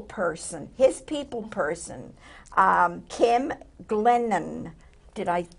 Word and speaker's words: Glennon: Diego is here with her people person, his people person, Kim Glennon. Did I pronounce correct?